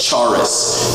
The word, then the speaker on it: charis: And so in English, it looks like charis. In Greek, you would say something more like charis.